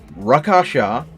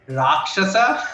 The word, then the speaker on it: Raakshasa: you drake and uh the pronunciation of the first book is rakshasa there it is there